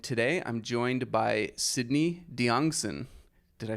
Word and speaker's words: Diongzon: Benton Crane and today I'm joined by Sydney diongson did I say it right Sydney that was